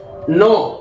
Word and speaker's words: know: नो, KNOW को नो पढ़ना है, के साइलेंट है।